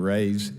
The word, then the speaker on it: Rays: Mr. Ray, did I say it right, Mr. Rays? Yes, sir. Mr.